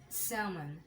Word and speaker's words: salmon: Almond, bum, pum, come, chalk, could, would, walk, talk, fork, salmon, which is a fish, and most of us sometimes pronounce it like salmon, but this is salmon.